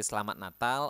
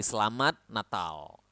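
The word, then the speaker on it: Selamat Natal: super new to you make sure to pronounce the T at the end and the L at the end clearly slat natal okay so yeah the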